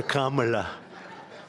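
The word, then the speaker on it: Kamla: It's Cam, right? Cam as opposed to Com. We don't like Com.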